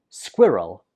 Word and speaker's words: squirrel: We pronounce this squirrel. Squirrel. So a lot of students find this difficult because of the consonant cluster. That is, the different consonants that follow each other. So in the 1st syllable, we pronounce it squid. Squid. And the 2nd syllable is just roll. Squirrel. Squirrel. One more time.